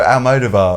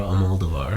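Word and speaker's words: Almodóvar: Well, how do you say the last name? Almodovar, and I say Almodovar. I say it the way Madonna pronounces it.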